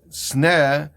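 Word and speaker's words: סנה: So the first thing the answer is that sneh, even though it's written with samach nun, it has the same pronunciation as sina, sin nun. With the kashem shegalus mitzrayim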